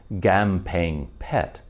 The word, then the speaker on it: Kamphaeng Phet: a k at all it is pronounced more like a hard g and the ph letter